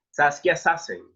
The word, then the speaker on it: Saskia Sassen: la socióloga saskia sassen creo que este se pronuncia de esa manera saskia sassen ok gracias por la corrección a la letra